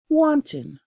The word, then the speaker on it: wanton: to jail for perjury wanting wanting this is not the soup and it is not pronounced like the soup this is a refer